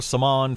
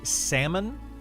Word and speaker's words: Saman: Is it Upper Salmon? Upper Saman? S-A-M-A-N. How would you pronounce that? Salmon? That's what I've been saying.